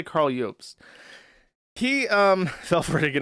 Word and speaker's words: Jobst: I don't know if you pronounce it Jobst or Jobst. I'm gonna say Jobst because that looks correct to me. He looks Scandinavian, and the J is a Y in Germanic languages.